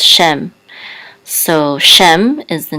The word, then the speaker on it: Shem: translation for this and this is a shin with with it said feet which says Shem so Shem is the